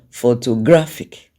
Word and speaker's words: photographic: of course the stress primary stress is on gra because that's the loudest when you pronounce the word photographic and then the next